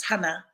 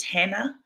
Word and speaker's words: Hana: But when she was going to school, she was constantly having her name pronounced as Hannah or misspelt to H-A-N-N-A-H. And her father reminded her of the importance of correcting people about the correct pronunciation of her name.